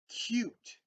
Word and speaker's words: cute: And we've been talking about this silent bossy E, how it makes our vowels say their name. And look at this. You, mule, mule. That is mule, right? And here's k, you, t, cute.